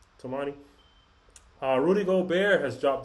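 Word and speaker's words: Toumani: Did I pronouncing his first name right? Is it Tumani? Tomani. Yep. Tomani.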